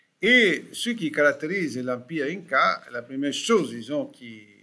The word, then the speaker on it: Incas: On va dire quelque chose sur les Incas. On fait un peu une exception en français, on prononce Inca.